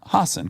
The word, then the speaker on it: Hasan: Hassan, great.